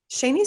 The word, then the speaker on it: Shani: you read it and no one knows how to pronounce my name ever but it's i read the article how to pronounce my name because i was calling you shawnee and i was like that's not right so yeah i think actually shawnee is the correct pronunciation for my spelling it's just that my parents said it differently so no worries there